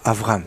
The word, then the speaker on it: Avraham: Abraham il s'appelle l'accord Avraham faire attention à bien prononcer comme il faut pendant la plus grande